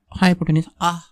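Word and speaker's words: hypotenuse: cos 30 क्या होता है, एडजेसेंट बाय हाइपोटेन्यूस, हाइपोटेन्यूस ये इसका प्रोनाउंसिएशन है।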